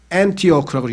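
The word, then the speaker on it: Antioch: 안티오크라고 영어 발음으로는 안티오크.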